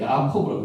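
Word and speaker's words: יעקב: 야코브. 자, 읽기를 야코브라고 읽습니다. 우리는 야곱을 읽지만은 야코브. 그대로 발음 그대로 나죠.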